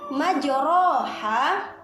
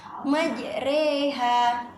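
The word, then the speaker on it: مجريها: atau bacaan yang mana awalnya kita membacanya dengan majoroha kita harus membaca ayat tersebut dengan cara majreha seperti kata sore bukan Rei tapi Rey yang keempat yaitu bacaan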